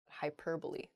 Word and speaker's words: hyperbole: think some of those things happen to her hyperbole not hyperb next Antarctic not ah oh I see Antarctic is the correct pronunciation of this word some people say an